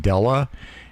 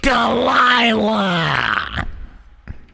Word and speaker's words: Delilah: time I said hi are you Mrs Della and she went she went Delilah like that so if